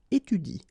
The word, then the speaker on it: étudie: So in that case, if you want to pronounce it correctly, you should pronounce it like il étudie. Okay, so the last thing that you will pronounce will be the vowel I here. Okay, il étudie. You don't pronounce this here.